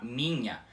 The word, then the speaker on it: minha: E o NH em português é a mesma coisa, ou seja, é como se ele fosse um ni de ni pronunciado bem rapidamente.